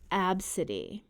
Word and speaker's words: Abcde: The name was spelled Abcde and pronounced Abcde.